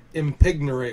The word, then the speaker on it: impignorate: Impignorate. Would you like me to spell it?